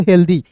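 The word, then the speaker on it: healthy: लेकिन अंतिम में वाई है तो इसका उच्चारण दोस्तों द के रूप में होगा हेल्दी।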